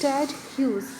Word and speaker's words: Ted Hughes: So the poet's name is pronounced as Ted Hughes.